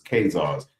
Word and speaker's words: Khazars: H A Z A R, but the others pronounce it K H A Z A R. Either one is correct because it's Kazars.